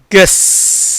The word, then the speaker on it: guess: அப்படி இருந்தும் அந்த யூக்கு என்ன இல்லை, உச்சரிப்பு இல்லை.